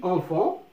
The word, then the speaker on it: enfant: Le petit enfant، الطفل الصغير أو الولد الصغير، achète يعني يشتري خبز جيد. نلاحظ كلمة enfant. Enfant. Il y a 2 syllabes. Enfant. نطقناها كذلك صوت يخرج مصدره الأنف. Bon, on, et ça c'est on.